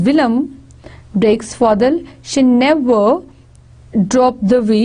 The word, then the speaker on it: William: William, it was not William, it was Willem.